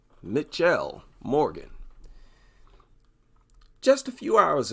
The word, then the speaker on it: Mitchelle: That looks like Mitchell, not Michelle. I wonder if it's really Michelle Morgan. I've never heard of that name. No, it's Mitchell. Am I pronouncing that right? Mitchelle Morgan.